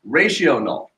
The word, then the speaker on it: rational: it should be pronounced ratio null okay because it's it's it's talking about a ratio and in fact if